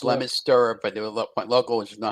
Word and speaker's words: Leominster: It's pronounced Leominster, but the locals know how to pronounce it correctly.